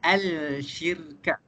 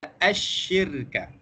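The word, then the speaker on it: الشرك: Cara bacaan dia bukan al-syirka. Tetapi cara bacaan dia adalah asyirka.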